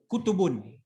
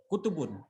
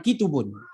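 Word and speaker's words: كُتُب: Bacanya pun bukan ki, tapi kutubun. Bukan kitubun. Berbeda. Harakatnya berbeda.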